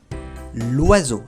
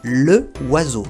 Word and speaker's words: l'oiseau: Si no hubiera contracción se diría le oiseau, lo cual suena muy cortado y no es fácil de pronunciar cuando uno habla rápido.